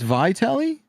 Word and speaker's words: Vitelli: It's a hard I. It's Vitelli.